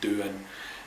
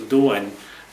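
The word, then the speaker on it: Dō-in: Doan, it can be mistakenly pronounced as Doan. It's Do as in Aikido, as in the way, for anybody who kind of does any kind of Japanese stuff. It's the same idea as Tao, which is the kind of Taoist stuff. It all means the way.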